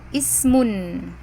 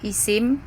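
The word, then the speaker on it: اسم: Isim atau tulisannya dalam tulisan Arabnya itu alismu, al-ismu, dibaca alismu atau ismun. Seperti pada lafaz bismillah itu ya, bi dengan ismi nama, nah itu ismun. Kemudian fi'il atau fi'lun dalam bahasa Arabnya. Fi'il itu kalau kita menyebutnya ya, biasanya kan kalau ngomong tuh pakai wakof gitu ya, jadi kita menyebutnya ism atau isim ya, familiarnya isim.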